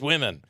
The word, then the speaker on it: Wimmen: The other thing is, I found like swimming without the S. Swimming, but it's women.